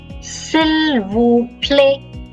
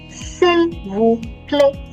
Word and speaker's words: S'il vous plaît: Last letter is silent. S'il vous plaît. Please. S'il vous plaît.